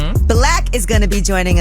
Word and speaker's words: 6lack: They don't pronounce it Six Lack. It's Black. Yeah, it's Black, but I'm saying it's spelled Six Lack.